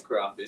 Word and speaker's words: carafe: It's like giraffe. But Giraffe. it's carafe. But it's the carafe. Hi, waiter. Can I have a carafe, please? Say carafe like giraffe.